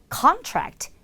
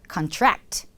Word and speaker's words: contract: contract, 계약이라는 명사예요. 하지만 계약하다가 되면 contract. 역시 차이가 많이 납니다.